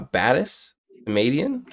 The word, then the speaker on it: Batis Samadian: nice round number uh today we're joined by uh batis comedian that pronounce that right I feel like I did